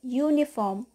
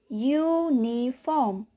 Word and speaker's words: uniform: the example of what uniform hear the vowel U has a consonant sound or the sound of letter why we say uniform we use a before